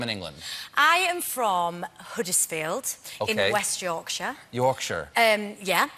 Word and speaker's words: Huddersfield: I said Huddersfield, where I'm from, Huddersfield, and apparently in the text underneath to translate, they put Hoodlesfield or something.